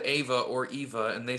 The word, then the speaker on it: Eva Under Fire: are fall prey uh i'm calling it ava so you but they're like no it's eva it's eva under fire and that's how they pronounce it yeah they have a